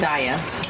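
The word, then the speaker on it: Daiya: How do you pronounce that, Julia? I think it's Daya cheese. Daya.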